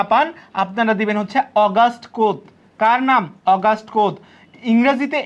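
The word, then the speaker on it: Auguste Comte: পান আপনারা দিবেন হচ্ছে অগাস্ট কোত কার নাম অগাস্ট কোত ইংরেজিতে এই বানানটা কেমন হয় জানেন ইংরেজিতে বানানটা অগস্ট কমতে এই যে অগস্ট কমতে কিন্তু বাংলায় কি অগস্ট কোত আপনারা ম্যাকাইভার অগস্ট কোত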